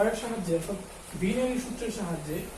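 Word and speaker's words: Wien: এবং এই উইন্স displacement ল এর সাহায্যে, অর্থাৎ বিনয়ী সূত্রের সাহায্যে, আর বিনয় বলতেছি কেন, কারণ ডাব্লিউ কে জার্মান ভাষায় ভয়ের মতো উচ্চারণ করে, সেই জন্য এটাকে বিনয় সূত্র বলে।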